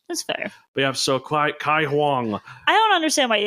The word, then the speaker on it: Caihong: Caihong.